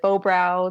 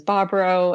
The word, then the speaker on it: Bobrow: So like half my family pronounces it Bobrow. The other half does Bobrow. And I say both. I use both pronunciations and confuse everyone. That's fantastic.